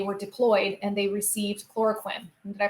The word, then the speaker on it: chloroquine: malaria when they were deployed and they sieved chloroquine did I pronounce that right cuz I like all our